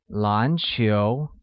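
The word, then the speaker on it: 篮球: basketball becomes lunch hill basketball uses a mid rising tone on both a and u making it lancio great the next word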